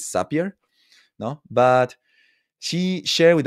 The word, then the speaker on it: Zapier: Well, I think that the right way to say it is Zapier.